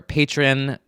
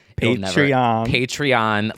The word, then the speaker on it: Patreon: And also, to start off, we just want to say shout out to our patron. Fuck, I say it wrong every single time. Patreon, Legends Only fans.